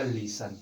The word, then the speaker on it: listen: ठीक है, तब इसके अंत में क्या है, TEN है, तो अब यहाँ पर टी का उच्चारण नहीं किया जाएगा और इसके बाद का उच्चारण क्या किया जाएगा, तो किया जाएगा लिसन।